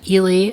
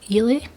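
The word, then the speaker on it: Eily: But basically they're Stephen and Ely, I think that's how you say it, E-I-L-Y, Ely.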